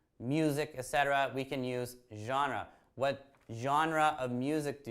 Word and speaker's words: genre: are your favorites what genres now that word can be hard for people to pronounce correctly right genre genre because the word genre is actually not an English word is actually French that's why the pronunciation